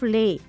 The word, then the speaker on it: les: pronunciation of Liz article why is Les being pronounced as lasers instead of lay here's the answer when any french word begins with a vowel or silent h the last consonant of the previous word is pronounced also both the words